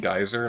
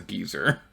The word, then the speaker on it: geyser: using like British English, rather than saying geyser like they say in North America, the character says geezer, and I know that's common in, like, British English to pronounce it like that, but it just always